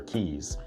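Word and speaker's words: Caye: So, us Americans think that's the way it's pronounced, but it's Key.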